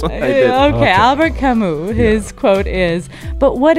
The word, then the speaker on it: Camus: Okay, Albert Camus.